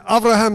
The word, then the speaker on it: Avraham: you count those stars avraham i'm giving you good jewish pronunciation and and avraham says no god i